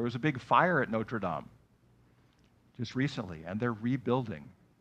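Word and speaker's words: Notre-Dame: with the football team we're saying Notre Dame in in English but in French it's Notre Dame do you know that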